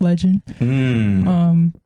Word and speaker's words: Legin: Yeah, so his name is Nigel, but he goes by Legin. Spell it backwards. It's pronounced Legin.